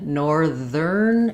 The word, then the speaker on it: northern: In northern, it changes to the voiced ther sound.